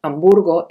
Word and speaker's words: Hamburgo: sabemos por ejemplo que la letra h nunca se pronuncia en español así tenemos que decir helicóptero y no helicóptero o hamburgo en vez de hamburgo de todos modos algunas